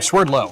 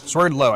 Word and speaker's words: Swerdlow: This is Justin Swerd Swerdlow, I believe. Just trying to remember exactly how to pronounce his last name. Swerdlow. Swerdlow. I knew it was an L. Yeah, Justin Swerdlow coming up with a runner on first and second.